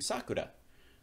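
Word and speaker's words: 桜: for cherry blossoms so if you remember you pronounce that by saying Sakura so it's okay there's two and three and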